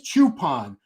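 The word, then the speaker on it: Choopan: here we're talking about Hadi chupan and it is chupon remember people were trying to correct me and and shame me because I was saying his name wrong yeah well IAL I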